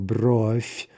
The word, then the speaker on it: бровь: Remember, there's some devoicing, right, from V to F, right? So, бровь, тетрадь, кровать, мебель, боль, болезнь, печень, грудь, ночь.